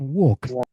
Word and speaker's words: walk: Ini L-nya mati, ya, Teman-teman. Jadi bukan walk tapi walk everyone. Seolah-olah kita melafalkan walk L-nya mati teman-teman. This is how we call the silent letter.